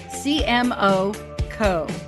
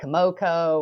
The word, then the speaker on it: CMOCO: Because people want to say Komoko or Samoko, or it's CMOCO. CMOCO, as in Chief Marketing Officer Company.